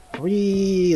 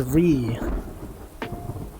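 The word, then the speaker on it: WRYYYY: And it falls on people and he goes Ree. That's what he says. He says Ree. except it's spelled like W-R-Y-Y-Y-Y.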